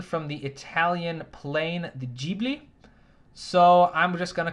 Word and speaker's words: Ghibli: studio ghibli films uh and yes it is pronounced ghibli at least that's how i'm gonna i know